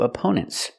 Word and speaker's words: opponent: The first syllable is a relaxed uh sound like cup and up.